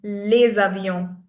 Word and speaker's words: les avions: But when the next word starts with a vowel, we link the sounds.